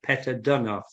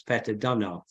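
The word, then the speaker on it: Peter Deunov: Here is an image of one of my favorite teachers, the Bulgarian master, Peter Dunov, or Peter Dunov, however you wish to pronounce it. I think the Bulgarian pronunciation is Peter Dunov.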